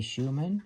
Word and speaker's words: Schuchmann: German ship's clock today I believe it's pronounced a Schuman vilhelms Haven one of the mounting